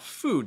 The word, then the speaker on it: food: So Ali asks, what about food? Does food have the same pronunciation as book? Food actually is going to have the oo sound, like in tooth or lose. So food is actually oo sound, where the back of